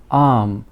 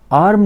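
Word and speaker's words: arm: इसे हम बोलते हैं आम इंग्लिश में बोलते हैं आर्मी नहीं बोलते आर इसमें साइलेंट रहता है इसे हम लोग आम बोलते हैं फिर हमारे पास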